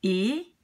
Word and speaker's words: et: And the T of E, you never link. This one you never pronounce. You don't link it, you don't pronounce it. You pronounce it, you just say E.